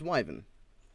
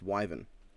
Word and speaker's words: wyvern: two issues with the episode 1 Ruby calm pronounced widen widen comes from the root word Vita which is derived from the Latin word for Viper it's not a Viper it's a Viper it's pronounced wyvern women is a mispronunciation my other issue is